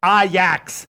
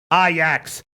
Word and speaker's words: Ajax: always pronounce it wrong, but I know it's pronounced Ajax. Ajax.